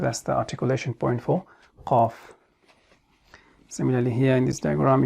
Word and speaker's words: ق: So is it a light or heavy letter? It is one of the heavy letters, because when we are pronouncing it, then our mouth or lips doesn't remain in the state of flatness or as if we are going to start smiling.